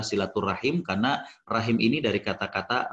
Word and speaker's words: silaturahim: kekerabatan ya jadi eh Namun kita sering membacanya dengan Rahmi silaturahmi tapi kembali bahwa Disini yang lebih tepat adalah silaturahim karena rahim ini dari